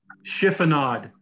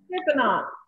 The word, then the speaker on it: chiffonade: Chiffon? That cut with the basil of the spinach? Chiffonade. Chiffonade.